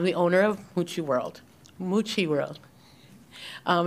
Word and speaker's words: Mucci: Mucci and I'm the owner of hoochie world moochi world um it's really hard name to pronounce um we've been here almost eight years